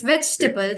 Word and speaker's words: vegetable: right the way it's just veg it's vegetable the e is silent and then the the a part in the table table it's silent it's vegetable yeah but we